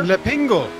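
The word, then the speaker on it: L'Épingle: I had the French pronunciation of that corner. Le Pingle.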